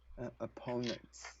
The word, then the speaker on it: opponents: It's both short O's. Okay. Opponents. Opponents. Actually, the second one, it's O. Opponents. It's O. Opponents. Opponents. There. So first syllable is short O and the second one is long O.